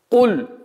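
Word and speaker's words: قل: Куль. Звук каф. Будьте очень внимательны, чтобы звук каф не произносилось как мягкий кяф.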